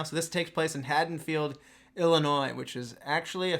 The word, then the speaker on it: Haddonfield: as we said I said let's go to Hayden field and apparently uh as you guys have both correctly pronounced it this way it is haddenfield I've been saying it wrong for I don't